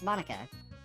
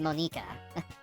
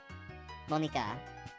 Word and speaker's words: Monika: Sayori, Natsuki, Yuri, and of course, Monica. Sorry. Technically, in Japanese, that'd be pronounced Monika. Monika.